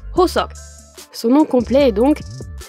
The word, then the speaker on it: Hoseok: prénom se prononce comme un H soufflé, comme dans le mot anglais Hello. Le prénom comporte également un O, un S et un O, et on retrouve la dernière lettre presque muette. Cela se prononce donc Hoseok.